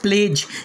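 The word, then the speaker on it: pledge: इसके बाद में सातवां रूल है हमारा, जब डी के बाद जी आ जाए तो डी के बाद क्या आएगा? जी आएगा तो डी साइलेंट होगा। जैसे पहला वर्ड प्लेज, यहाँ डी को नहीं पढ़ना है।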